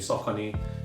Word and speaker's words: Saucony: why for the longest time I've been saying sock on because that's the way it should be pronounced cuz you know I've seen people pronounce